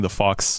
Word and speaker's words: Phawx: that like hardcore testing, the Fox does amazing stuff over on YouTube. So it's spelled THEF. No, PHAWX, the Fox.